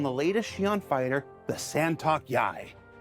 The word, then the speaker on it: Sa'Tok.Yai: latest Xi'an fighter, the Santok Yai. Santok Yai. It's pronounced just like it's spelled.